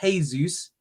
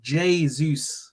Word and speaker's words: Jesus: I got told it's not Jesus. He's not Spanish. He is Brazilian, and in Portuguese it is Jesus. They pronounce the J.